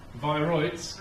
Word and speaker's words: viroids: How do you pronounce it, sir? Viroids.